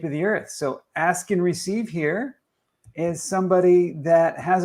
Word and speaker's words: Reeseve: A lot of people think Oh, that it's pronounced Receive, but that's my actual name, so it's Reeseve.